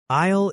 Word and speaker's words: aisle: Aisle is that walkway between rows of shelves. Right. And remember, the S is silent.